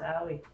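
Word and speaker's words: Ali: I think that's how you say it. A-L-I. Yeah. It's Allie.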